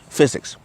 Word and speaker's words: physics: I knew the PH makes the F sound, so physics.